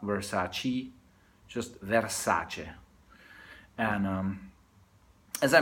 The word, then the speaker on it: Versace: The family is Italian from the south, and therefore try to make the effort to call their name what it's supposed to be called, Versace. So never, not Versace, just Versace.